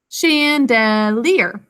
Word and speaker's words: chandelier: hanging in them okay so chandelier is a french word the sh sound is ch but you all sounded out with me chandelier three syllables first syllable